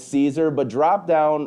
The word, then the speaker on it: Siser: to help everybody remember how to actually say it, that it's Siser, but drop down wrong